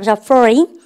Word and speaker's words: foreign: foreign이 아니고요. foreign, G 발음하지 마세요. 발음할까? foreign.